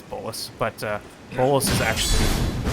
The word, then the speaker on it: bolus: a the hey yo I was calling it a blues I don't know maybe the pronunciation's it's bolus but uh bolus is